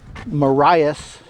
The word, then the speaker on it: Marias: And I asked somebody in town, and the correct pronunciation is Marias.